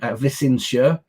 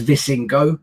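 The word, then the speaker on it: Visingsö: a little island called vicincia um if you read it as uh as you know someone from um england who butchers uh pronunciations of things um you read it as vissing go it looks like um which is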